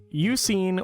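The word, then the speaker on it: Eusine: end up meeting with you seen or I believe that's how his name is pronounced he is you know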